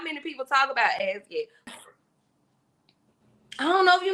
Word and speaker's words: Azyet: It's As Yet. Last night. I love this song. By who? It's by As Yet.